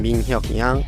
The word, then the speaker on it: Min Hyuk Yang: I'm Min Hyuk Yang. I'm Sky Blue. There you go. So he said how to pronounce his name in the video.